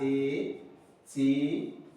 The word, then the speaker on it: étudiant: I'm going to transcribe as étudiant. Look at it. Male student, female student. Male student, female student. Étudiant. Because of this E. Because of this E. I pronounce it as étudiant.